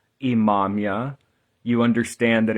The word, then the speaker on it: Imamiah: So, as I said, in the 16th century, you understand the name of the angel, the way it should be spelt or pronounced, Imamia.